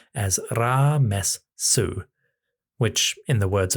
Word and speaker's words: Ramesses: In the diplomatic writing, the name, which in hieroglyphs is Ramesses, comes across more like Ramessesa.